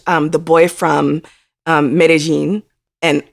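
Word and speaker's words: Medellín: the boy from um medellin and i just learned that apparently that's how you say it if you're from colombia not medellin but medellin um about j balvin do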